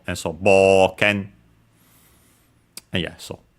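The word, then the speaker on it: 冒険: And yeah, boken, unaccented. Notice the o, u, bo, u, and so actually pronounced as long o, and so boken. And yeah, so boken.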